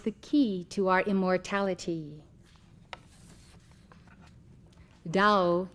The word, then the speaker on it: Tao: key to our immortality dow in chinese which as you know is spelled t a o dow means road way